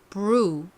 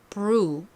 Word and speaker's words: brew: 발음은 brew, brew 이렇게 발음이 나죠.